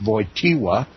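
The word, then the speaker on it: Wojtyła: his last name his real last name it's pronounced VOA it was obvious that Pope VOA was unwilling to risk embarrassing disclosures and in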